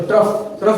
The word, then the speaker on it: trough: Crest का spelling CREAST, ट्रफ का spelling TROUGH। समझ में आ गया? तो ट्रफ बोलोगे इसको ना।